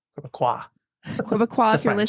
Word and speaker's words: Québécois: So the S is not pronounced. Québécois, Quebecois, the if you're French.